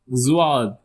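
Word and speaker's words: ض: The next is zad. Zad. Repeat after me. Zad. Z a heavier Z.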